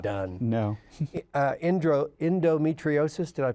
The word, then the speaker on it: endometriosis: years ago it did not done no indro endometriosis did i pronounce that correctly yes can you can you